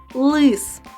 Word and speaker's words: лис: створюють язик і зуби у слові лис звук л звучить твердо А у слові ліс ль звучить м'яко Тож у слові лис